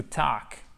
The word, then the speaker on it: talk: Alors, par contre, si le S se prononce, le L ne se prononce pas, d'accord? To talk, to talk.